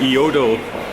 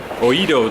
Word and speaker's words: Oedo: Because we are taking the Edo, well, that doesn't sound right. We are taking the Oedo line. There you go. To our Goiza line? No, I said something like I really mispronounced Oedo.